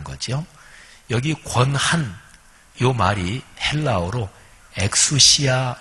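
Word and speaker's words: ἐξουσία: 안 된다 그런 거지요 여기 권한요 말이 헬라어로 엑수시아 발음하는데 우리 한글로 좀 더 이렇게 옮기면 전권이라고 얘기할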